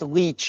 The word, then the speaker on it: Leach: Okay, it's pronounced Leach. Oh, he's talking about his last name, James Leach.